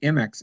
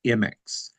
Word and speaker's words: Imix: I kept hearing them say MX, and I thought, Oh, hold okay. it, Yeah. I'm saying it wrong. Yeah. But So I actually wrote him after one of these presentations and said, "Am I pronouncing it wrong? I want to say it properly." And so he wrote back, "Thank you so much for your efforts. We do say it as IMIX, yeah.